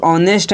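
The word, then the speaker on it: honest: में भी दिया है और यह जो आवर और ऑनेस्ट है इसमें एच तो लिखा जाता है लेकिन बोला नहीं जाता है तो आपको यहां पे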